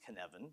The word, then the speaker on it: Cynefin: That's pronounced Cynefin, by the way. All right, Cynefin was a Welsh term for the habitat.